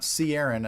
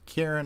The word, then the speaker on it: Kieran: what is the way, So I know it's pronounced Karen with a hard C or K sound. It's not Ciaran, as some people might assume, which I know I did the first time I saw his name.